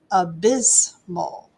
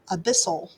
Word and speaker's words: abyssal: i'm saying that right abysmal abyssal not abysmal that's a whole different thing i was reading i'm looking at my pronunciation a bissell a bissell like an abyss i know an abyss